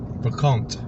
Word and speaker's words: brocante: Brocante. Brocante. I think you pronounce the T. You pronounce the T because it's got an E on the end.